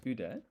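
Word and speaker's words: 腕: This is not kude, it's ude.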